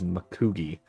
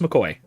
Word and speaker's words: McCoy: yeah no it's it's it's just McCoy um uh I would say that it's it's just the the Gaelic pronunciation but it's not exactly